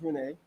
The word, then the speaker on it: Renee: We have another question from Renee, and she told me that I said it right. It is Renee.